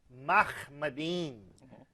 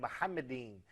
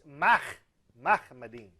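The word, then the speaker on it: מחמדים: First of all, that is a mispronunciation of the Hebrew term, which is Mahmadin, not he said Muhammadin. But even that eem is wrong, but he did not pronounce the Hebrew khe. It's Mahmadin.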